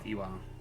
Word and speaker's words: Ivan: The name is Ivan. We say Ivan, but in actual Russian it is more like Iwan.